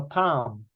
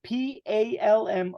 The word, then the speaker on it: palm: hand is called the Palm so we write it p-a-l-m but the L is silent Palm normally L